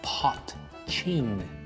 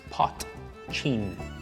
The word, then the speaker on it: potcheen: things first the pronunciation it is known as pot chain see the way it's spelled you pronounce that p o t c h e e n pot chin first of all what the hell is it